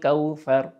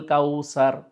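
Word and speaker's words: كوثر: খুব সফটলি ফা উচ্চারণটা হয়ে চলে যাবে। কিন্তু আমরা অনেক সময় ভুল করে ফেলি। যেহেতু আমরা সিন দিয়ে বেশি বাংলা কথা বলে থাকি। তাহলে আমরা অনেক সময় বলি আল কাউসার।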